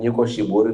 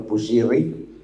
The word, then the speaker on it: Nyiko Shiburi: I'm Nyiko Shiburi, not Bushiri.